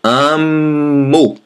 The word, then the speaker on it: amo: We remove the AR and we add the O, but pronounce U. So instead of amar, we say amo.